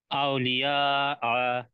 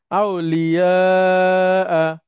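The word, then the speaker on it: أولياء: উচ্চারণ করেন সেই সাথে আউলিয়া না আতে টান হবে না আউলিয়া না না আ বলে থেমে যেতে হবে শেষ আবার বলেন আউলিয়া হ্যাঁ আউলিয়া আউলিয়া হ্যাঁ আচ্ছা অনেক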